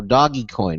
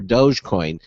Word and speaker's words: Dogecoin: But what about these competing things like Dogecoin or Dogecoin? Still not sure how to pronounce it because I hear from so many different people how to do it. Doggy is pretty acceptable.